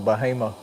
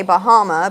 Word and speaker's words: Bahama: tractor I think of bahima oh yeah bahima over here here which other people would say Bahama because it's spelled like Bahamas but everybody around here says bahim bah yeah and mom